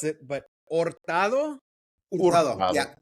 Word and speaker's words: Hurtado: to pronounce it, but Ortado. Yeah. The H is silent. Yeah. Yeah. Then why have I always said my cousin Gabriel Herado?